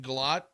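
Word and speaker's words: Gillotte: Um, Louisville's defensive end Ashton Galot. Gelot Galot is how you say his name.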